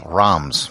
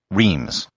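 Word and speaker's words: Reims: the champaign region is rams or as it's often pronounced in english reems this is noteworthy because in 987 the french king hugh capette was crowned in roms after this almost every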